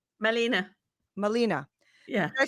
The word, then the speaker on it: Malene: how many times and now is it Maylene or Marlene? How do you say your first name? Malena.